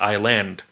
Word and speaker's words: island: And so they added the S, and they just didn't pronounce it.